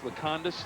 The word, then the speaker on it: Lekanudos: We mispronounced it when they played Steubenville Central, so we apologize. Lekanudos, the proper pronunciation.